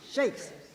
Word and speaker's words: Chaix: to somebody and it's Oh you mean and I said no shakes so it's it depends upon who in the family you talk to as to how you pronounce it there most of this